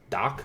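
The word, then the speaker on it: Dach: that so Strohm Kane Curt how do you pronounce this Kirby guys last name is it - you got doc doc okay yeah oh the price is going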